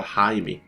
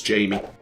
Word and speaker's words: Jaime: manually called our doctor Jaime that's probably where we get his pronunciation of his name I thought it was Jamie well I guess we'll go with Jaime Pepper cartridge he shouldn't